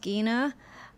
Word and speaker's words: Gena: uh johnson uh and yes her name is pronounced gina and we can't wait to see her again